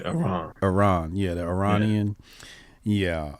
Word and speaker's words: Iran: Iran. Iran? You don't say it like I. You say Iran.